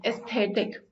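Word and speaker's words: aesthetic: पे last word है एस्थेटिक इसको एक्चुअल में ना ई से प्रोनाउंस किया जाता है एस्थेटिक तो एस्थेटिक ये ब्यूटी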